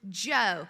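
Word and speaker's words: Djo: It's the song called End of Beginning by the artist Joe. Now, listen, it's spelled d j o.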